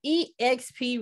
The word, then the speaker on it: eXp: you pronounce that deborah e xp realty what is that that's it that's it okay there's an acronym that it's just exp i was like am